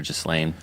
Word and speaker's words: Ghislaine: It has an S in it, but I've heard it pronounced with the S or without. So Ghislaine or Ghislaine.